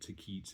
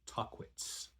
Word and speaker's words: Tahquitz: It's not Taquits, it's Tahquitz.